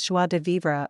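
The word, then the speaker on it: joie de vivre: are onead de vivra pronounced something like swad v v z is identical in sound to the S of pleasure literally Joy of living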